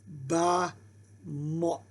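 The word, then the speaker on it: במות: So it's ba mot, ba mot.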